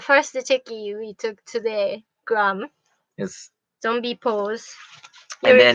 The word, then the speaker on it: Graham: just so it's g-r-a-n so the h is silent because english has weird language like that oh this is the